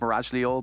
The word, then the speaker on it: Mirage Lior: And, I very briefly spoke to Mirage Lior, which apparently, it is pronounced Mirage Lior. He wants the entirety of that pronounced.